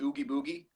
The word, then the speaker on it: Oogie Boogie: Is Yeah, that it's that's the right pronunciation? Oogie Boogie.